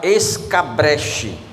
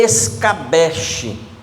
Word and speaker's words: escabeche: Eu pronunciava a palavra escabreche, mas naquele dia eu aprendi que a cópia, que a escrita não é assim, que a pronúncia também não, é escabeche.